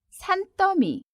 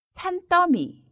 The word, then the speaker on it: 산더미: 같아서 운동할 시간도 없어요 상 더미는 발음의 도 주의해야 해요 산더미 산더미 이렇게 읽습니다 낮이 샤라의 마리아 수어